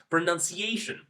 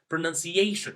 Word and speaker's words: pronunciation: So English native speakers will pronounce it like pronunciation, pronunciation, right? So you will notice that I'm putting more pressure on the word ciation, right? So ciation is my voice is loud, it takes longer, and it's also like it's like I'm emphasizing this syllable.